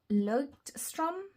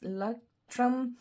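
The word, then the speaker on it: Leuchtturm: And second out is the Leuchtstrom, or no, it's no Strom. There's no S. Leuchtstrom.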